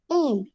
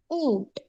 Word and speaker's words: ऊंट: उ, बड़ी उ प्लस चंद्र बिंदु प्लस ट. उच्चारण होता है ऊंट, ऊंट.